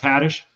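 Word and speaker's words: Haddish: Mike said and say, "Oh, thank you Tiffany Hadish." Now that it's pronounced Hattish.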